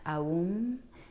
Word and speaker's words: Aum: Om, it's actually pronounced Aum, A-U-M.